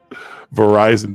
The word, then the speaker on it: Verizon: Verizon definitely rhymes with horizon and more neatly than enterprising.